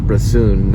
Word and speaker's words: Bresson: o n there's probably five different ways to pronounce his name um I believe his first name is Robert and it's broon 1959 he did a film called Pig pocket